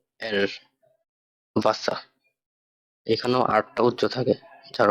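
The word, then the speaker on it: Wasser: তো ডাব্লিউ কে ভে বললেও এটার উচ্চারণটা ভয়ের মতো বাংলা। তো ওই জায়গায় ভাষা লেখা, উচ্চারণ করি চলেন। ভে আ এস এস এ এল, ভাষা।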